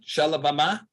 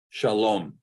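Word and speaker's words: שָׁלוֹם: one this is what this is is it shalabama no it's not shalabama of course not this is Shah loam shalom so this is pronounced oh now some people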